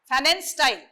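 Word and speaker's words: Pfannenstiel: Fanen style. STEIL. Fanen style. Fanen style, P is silent.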